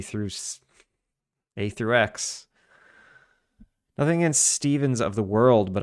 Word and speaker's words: Stephen: Nothing against Stevens of the world, but I legit hate that it's pronounced Steven. Uh, welcome to English.